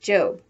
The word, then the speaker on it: Job: before going off to her job which in the bible is pronounced job remember that the one